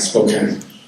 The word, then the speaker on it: Spokane: Spokane, how do you pronounce it? Spokane.